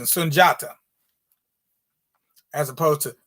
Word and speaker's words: Sundiata: you get a little closer to the actual pronunciation sunjata as opposed to sundiata i don't know who that is that's some